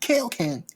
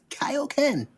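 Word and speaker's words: Kaioken: saying Goku Goku Goku Kyle Ken not K Ken Kaio Ken bro like little little little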